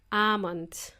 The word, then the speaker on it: almond: So my friend didn't know there was a silent L in there. And when you say it, you kind of prolong that almond. And in Spanish, the word almond is almendra.